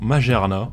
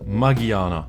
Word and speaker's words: Magearna: Alors, certains d'entre vous diront Magearna, mais les katakana disent Magiana. Donc Magearna, Magiana, Magiana. Moi je le prononcerai Magearna pour le coup.